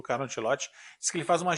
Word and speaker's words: Ancelotti: O cara é italiano, pelo amor de Deus, é Ancelotti. Vamos pronunciar certo o nome das pessoas, para começo de conversa.